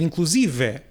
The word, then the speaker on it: inclusive: vogal aberta, no entanto a palavra continua a ser grave, continua a ser inclusive e não inclusive.